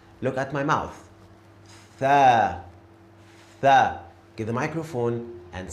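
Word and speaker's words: ث: When I say this letter, my tongue goes to the front teeth. Tha. Look at my mouth. Tha.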